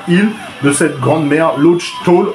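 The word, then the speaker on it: Laugh Tale: de cette grande mer, Lodge Toll, orthographe venue par Oda. En fait, c'est comme ça que ça se prononce, hein.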